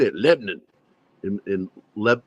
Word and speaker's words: Lebanon: how they say it Lebon in in Le it's Lebanon Missouri but they pronounce it Lebon Lebon Leon they don't want